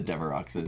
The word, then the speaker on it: Devereaux: I said the Devereauxes. Devereauxes, right. I know that's not how you pronounce it. Devereaux. Devereaux.